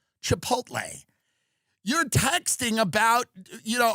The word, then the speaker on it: Chipotle: worked, you know, if you worked at Chipot Chipotle, Chipotle, is it the L at the end? Because some people pronounce it the other way. I don't I agree. It's Chipotle.